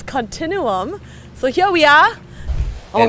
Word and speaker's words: Continuum: the beautiful Continuum uh we used to pronounce it continum in some of our shoots and then we were we were schooled by the viewers that it's Continuum so here we are